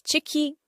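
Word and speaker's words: ciki: Chicky c i k i chicky and cheeky. Chicky means stomach, your tummy. It can also mean pregnancy and it also means inside but it's pronounced as cheeky.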